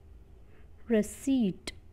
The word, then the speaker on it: receipt: Next is rest, but receipt, p silent होता है रिसीट में.